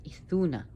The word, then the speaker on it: Idunna: You notice how I pronounce Idunna because the D is curved in the language, so the Norse language, where it would be a th sound, an etha.